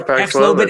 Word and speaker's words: Paxlovid: Is that how you pronounce it? Paxlovid. Oh yeah, Paxlovid yeah.